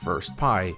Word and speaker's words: 1STPAI: When the modders of the game extracted it onto a PC, they found the 71st song, oddly named 1STPAI, or First Pie as it's often pronounced.